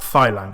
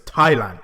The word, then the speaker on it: Thailand: it's Thailand it's not Thailand I know there's a h but it's Thailand Thailand Thailand that's how